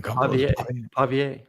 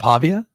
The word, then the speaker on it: Pavia: got me on pavier it's not Pavia pavier I can't tell if you're not really answering you're just saying it up again pavier that that's how you would pronounce it in the booth you would say pavier so it's not Pavia